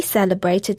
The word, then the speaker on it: celebrate: So we had 3 CE words there and they were all pronounced with a S sound. We had celebrate, centimetre and ceiling, and that's our second rule.